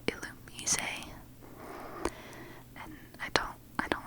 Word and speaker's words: Illumise: It's Illumis, which I recently found out is supposed to be pronounced Illumise.